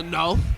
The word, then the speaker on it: Nawf: Emphasis on the Nawf.